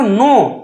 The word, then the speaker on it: know: তারপরে দেখো, নো, KNOW, নো। আমরা বলি নো, নো মানে এনো না, শুধু KNOW উচ্চারণ কি হয়? নো।